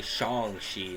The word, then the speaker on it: Shang-Chi: spots so you know it took me a while to say shangshi instead of shang all